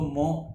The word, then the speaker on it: mho: इसको मो पढ़ लेना या जैसे तुम प्रोनाउंस कर सको।